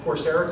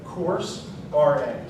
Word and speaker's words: Coursera: So this is to kind of give you concepts, stuff to Google or search or find Coursera classes on, that you can go ahead and learn more.